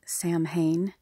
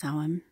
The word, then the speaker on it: Samhain: as it's spelled there as it looks as Sam Hayne but it's actually pronounced soam Halloween it's different for different cultures everybody celebrates